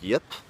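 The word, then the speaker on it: Jip: by a viewer named Yip. I think I'm pronouncing that right. It's J-I-P, but I'm imagining it's pronounced Yip.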